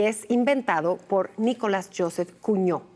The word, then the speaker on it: Cugnot: inventado por Nicolas Joseph cuño me decías en el corte que se pronuncia cuño eh un mecánico ingeniero